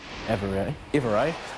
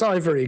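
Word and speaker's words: Ivereigh: wrong again I promise no worries it's Ivory Good To Be With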